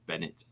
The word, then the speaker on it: Bennett: It's Chris Bennett. Bennett. He pronounces it Bennett.